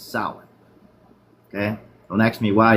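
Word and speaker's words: Samhain: This is pronounced sour, not Sam Hayne. It's not a first nor a last name. It's sour.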